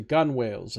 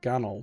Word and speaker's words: gunwales: are positioned against the gunwales of their main decks. I think you pronounce it like gunnel, don't you? I don't think you pronounce the W.